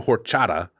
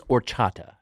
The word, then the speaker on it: horchata: believe it's horchata while we're doing pronunciation. For fuck's I sake. think the H is silent.